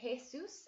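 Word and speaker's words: Jesús: Can I get Colton to say Jesus out loud? Jesus. Jesus. Excelente. And we definitely pronounce the S's a lot in Spanish.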